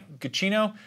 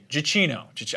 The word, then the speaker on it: Giacchino: Giacchino. Giacchino. I've been mispronouncing it in my head the whole time.